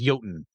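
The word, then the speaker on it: jötunn: progenitor of all Giants also known as yoten or joton depending on who's pronouncing it I'm going to say yoten because that's one I'm familiar with as he slept naturally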